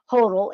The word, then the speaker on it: Hotle: Hotle is how you say it.